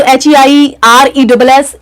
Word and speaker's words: heiress: Okay, mail की बात करें तो ईयर है, और फीमेल की बात करें तो HEIRESS, ईयरएस बोलेंगे इसको हम. प्रोनाउंसिएशन पे हमको स्पेशली ध्यान देना है जब हम ए और एन का यूज कर रहे हैं, तो ये उत्तराधिकारिणी हो जाएगा और हियर उत्तराधिकारी हो जाएगा, तो यहां पर हमको एन लगाना है according to, बट हियर सी H silent है यहां पर एच, ओके।